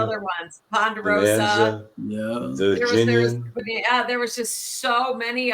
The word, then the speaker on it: Virginian: She loved the Virginian, and she called it the Virginie because she couldn't pronounce it right.